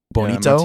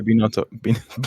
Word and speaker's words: Binotto: Mattia Bonito. Yeah, Mattia Binotto. Bonito. Mattia Binotto. Too American to pronounce his name.